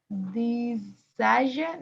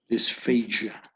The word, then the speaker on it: dysphagia: This word, how would you pronounce this? This. No. This. Dysphagia. No. Dysphagia.